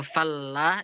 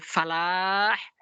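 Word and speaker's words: فلاح: Bukan falah. Kalau falah itu artinya petani. Tapi kalau falah artinya kemenangan, kesuksesan.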